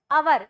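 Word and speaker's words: hour: इसको हवर नहीं पढ़ेंगे। क्या पढ़ेंगे अपन इसको? अवर। ये साइलेंट है।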